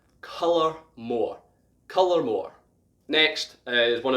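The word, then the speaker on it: Dalmore: dal dal more however in gaelic the dal sounds a little different it sounds almost like color and so pink like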